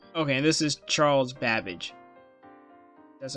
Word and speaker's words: Babbage: And Charles Babbage, those characters are coming out.